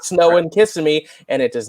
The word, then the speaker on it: Kissimmee: It does not snow in Kissimmee, and it does not snow in Anaheim. No, definitely it does not. You put the emphasis on the wrong syllable. It's just Kissimmee, not Kissimmee.